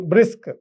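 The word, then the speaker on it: BRICS: conduct some summits example brisk a brisk so there is a bar sound so brisk we are we are not reading br i cs so that if you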